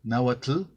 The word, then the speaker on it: náhuatl: Entonces, la manera en que yo lo pronuncio, náhuatl, se les hace igual a los náhuatlactos, se les hace igual de incorrecto.